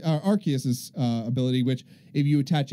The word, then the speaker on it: Arceus: system is Arceus and that's how it's pronounced in japanese is Arceus other chaos yeah maybe